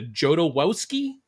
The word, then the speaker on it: Jodorowsky: Movie Survival Podcast, the Losers Club, and the Jodorowsky Podcast. Did I pronounce that one right, Julia?